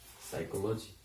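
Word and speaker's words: psychology: साइकोलॉजी। कुछ difference दिखा? English language में साइलेंट लेटर भी होता है, लेकिन हिंदी लैंग्वेज में नहीं होता। इसमें पी साइलेंट है फर्स्ट।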